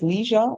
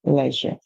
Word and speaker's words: leisure: activities or Leisure um the pronunciation will be different between the British and the American one says Leisure the next one would say Leisure so whatever activity you